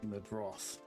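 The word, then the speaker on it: Meidroth: So I'm hoping these guys here will challenge each other for that spot, and if not, we have Chase Medroth, that's how you pronounce that, as somebody that will challenge for that position in the upcoming season.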